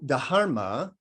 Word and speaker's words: dharma: So dharma, that's the best I can come to its kind of proper Sanskrit pronunciation because it's a D-H-A-R-M-A, so it's dharma.